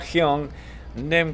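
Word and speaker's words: 형님: black belt its soshim hy ung like young while ung like me okay hyung-nim gay that is face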